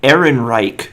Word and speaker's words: Ehrenreich: It's Alden Ehrenreich, of course. Good name pronunciation.